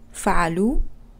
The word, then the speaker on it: فعلوا: Okay, it's good to remember that the alif on the plural ending, wow alif, is a spelling convention only and is not to be pronounced. So when I say هم فعلوا, what I actually pronounce is the wa.